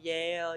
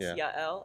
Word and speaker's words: Yael: name oh y y Yale y all kinds of things so it's actually I think once you actually look at it and hear the two syllables y l it's not complicated at all but when